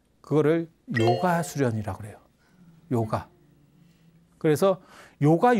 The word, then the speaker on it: 요가: 그거를 요가 수련이라고 그래요. 요가. 그래서 요가 유식학파라고 합니다. 요가가 옛날 발음이 유가예요.